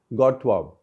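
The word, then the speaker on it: Godthåb: place is called godthab gotab is the spelling in the Danish way it'll be pronounced as gotab something like that I I may not get that perfectly right that is what is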